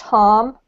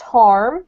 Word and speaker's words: harm: So if you pronounce it in the British accent, it's pronounced harm, and it rhymes with calm. If you pronounce it in the US accent, it's pronounced harm with an R.